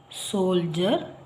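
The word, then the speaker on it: soldier: ಇಲ್ಲಿ procedure procedure you ಆರ್ ಇ ಬಂದಿದೆ ಜ ಉಚ್ಚಾರ ಹಾಗೆ ಯು ಎ ಟಿ ಇಂದ ಪದಗಳು ಪದ ಗ್ರಾಜುಯೇಟ್ ಗ್ರಾಜುಯೇಟ್ ಇಲ್ಲಿ ನೆಕ್ಸ್ಟ್ ಐಈ ಆರ್ ಸೋಲ್ಜರ್ ನೋಡಿ ಐಈ ಆರ್ ಎಂಡ್ ಆಗಿದೆ ಸೋಲ್ಜರ್ ಹಾಗೆ ಯು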